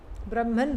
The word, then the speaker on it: Brahman: Brahman rhymes with German.